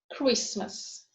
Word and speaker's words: Christmas: T is silent in castle, whistle, listen, fasten, Christmas.